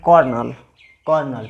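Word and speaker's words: colonel: यहाँ पर देखिए कोलोनल लिखा हुआ है, इसको पढ़ते हैं कॉर्नल।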